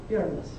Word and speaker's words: Uranus: human being to set eyes on the planet uranus and i do want it clear that it's pronounced uranus get a lot of nasty jokes about that